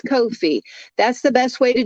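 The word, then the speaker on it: Ko-fi: it is no fee it rhymes with no fee it's Kofi that's the best way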